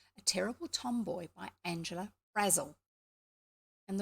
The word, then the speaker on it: Brazil: terrible tomboy by Angela Razzle and the way they used to write it so people would get it correct if they were doing a pronunciation was b-r-a-z-z-e-l Razzle was it said anyway chapter five